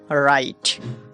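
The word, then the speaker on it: write: ডব এর পর এইচ আর হলে ডবউচ উচ্চারণ হয় না। যেমন রাইট যেমন রাইট।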